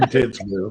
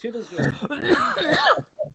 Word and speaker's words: Titusville: Well, I don't know how to pronounce Bernie, it. he said Titsville. Every time you Well, come on, wait. it's Titusville.